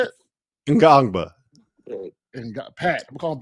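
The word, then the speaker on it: Ngongba: Ngangba.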